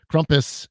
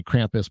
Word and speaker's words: Krampus: in short you know krompus um a lot of people say krampus but that's not how you say it the the a at the end is more of like a u um but the uh